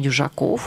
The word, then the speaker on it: Дюжаков: Иван Южаков, ученик 9 Б-класса гимназии номер 1 в городе Кирово-Чепецка.